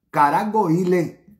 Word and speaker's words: Caragoles: En el medio hay una ciudad que se llama Caragoile, que se escribe Caragoles.